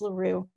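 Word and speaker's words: La Rue: place at a place called the roe inn or larue it's pronounced larue in um and we uh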